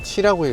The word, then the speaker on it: Qi: 무선 충전 패드 QI는 7라고 읽어요. 이게 중국말이죠. 그러니까 이 무선 충전의 규격을 화웨이가 주도해서 만들었기 때문에 지금 치 규격을 우리가 쓰고 있는데, 어떻게 전 세계가 이걸 아무렇지도 않게 그냥 얼떨결에 통일시켜 버렸지?